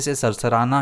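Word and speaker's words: susurrus: जैसे पत्तों का हल्के से सरसराना, हिलना या फिर किसी की फुसफुसाहट। इसे हम कैसे प्रोनाउंस करेंगे? सुसर्स या फिर ससर्स।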